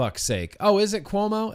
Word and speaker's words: Cuomo: said I don't know anything about it Cuomo will be looking for a new job when